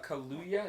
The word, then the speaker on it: Kaluuya: So the poster for Jordan Peele's new horror film, Hope, that came out, and it's going to star Daniel Kaluuya.